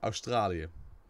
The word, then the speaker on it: Australië: It's also pronounced differently. We say Australië.